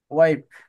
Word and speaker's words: wipe: ওয়াইপ, ওয়াই, আই, আই এর উচ্চারণ আই এর মতো করবেন, ওয়াইপ, ওয়াইপ।